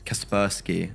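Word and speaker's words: Kaspersky: X was it donk uh ex Casper Sky and Pi Pi then went on to break the kill record and ex Kasperski. That's how you pronounce it properly.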